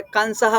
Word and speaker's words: कंसः: कंसः उच्चारण करते वक्त हमको नाक से नहीं, दांत से कंसः, कैसे?